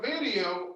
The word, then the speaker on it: video: When you're pronouncing the letter B, you have to use your top teeth and your bottom lip.